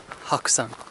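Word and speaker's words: 白山: Same characters, but it's pronounced Hakusan, as in also the White Mountain.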